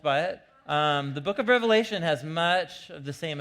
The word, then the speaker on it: Revelation: from the book of the revelation not revelations with an S on the end it's the most common mispronunciation of the book the revelation and you know I